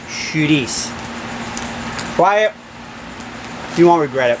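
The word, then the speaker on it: chouriço: are I see oh it looks like curry Co but it's pronounced shooties quiet do you want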